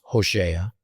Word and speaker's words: Hosea: Now, in the book of Hosea, actually pronounced Hosea, chapter 1, we get a curious story about Hosea being ordered to marry a harlot, prostitute named Goomemer.